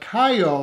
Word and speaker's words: Caio: So when his mother informs him that Caio, I think this is how you pronounce his name, the neighborhood kid from apartment